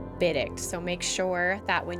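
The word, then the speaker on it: bidict: had to add was called biddict which is spelled b-i-d-i-c-t biddict so make sure that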